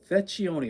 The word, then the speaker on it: Vecchione: How do you pronounce his name? Vecchione, Italian dude.